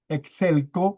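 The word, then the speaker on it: ἐξέλκω: El primero es exelco. Excelo. Porque tiene un acento en la o o en la omega.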